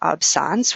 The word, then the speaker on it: absence: we do pronounce it absence which is the French word for absence and what's great about